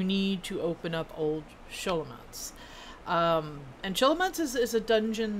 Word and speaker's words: Scholomance: I don't know if it's Scho or Sho, but whatever. I'm going to, like, Scholomance, I'm going to pronounce how you do, like, Schwartz or Schneider or. You know, something with an SCH.